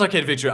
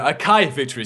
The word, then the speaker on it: Akai Victory: Well, not Arcade Victory, Akai Victory. Sorry about that, I just butchered their name.